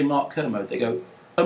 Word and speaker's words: Kermode: I did, and I spent like the whole week saying, I'm interviewing Mark Kermode, and emphasizing.